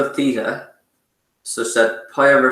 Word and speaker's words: theta: a bit funny um but it's pronounced uh steven spelled it out there that's useful so theta but being irish i don't pronounce my th is very well so i'm probably going to train you badly here but um theta is how it's pronounced with a t-h-e-t-a uh it's a great